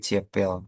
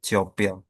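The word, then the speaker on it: тёпел: Kalau seandainya titik dua dihilangin jadi ciepil. Tapi kalau sebenarnya diucapkan tuh jadi ciopil.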